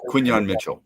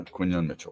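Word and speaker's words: Quinyon Mitchell: was it Quinn, how do you say Quinan Mitchell? Yeah, Quinan Mitchell.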